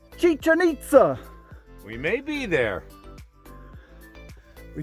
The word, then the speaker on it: Chichen Itza: okay here's my question what rhymes with chicken pizza chichen itza we may be there